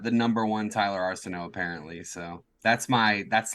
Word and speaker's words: Arceneaux: such a great intro to mispronounce my last name Arsenio Hall it is it is that's closer actually it's Arsenal you were you're close Arsenal yeah here's the thing